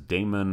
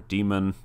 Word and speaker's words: daemon: for this background process is daemon or demon as far as I can tell both pronunciations are considered acceptable and a good example that